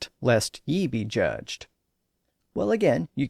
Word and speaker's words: ye: actually pronounced the but there was also a pronoun spelled ye and it was actually pronounced ye it was an alternate